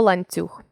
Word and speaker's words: ланцюг: він теж стає м'яким візьмімо слово ланцюг звук ці м'який м'якість цю дала йому літера U він ділиться нею Із сусіднім звуком і твердий н стаєм м'яким але є приголосні які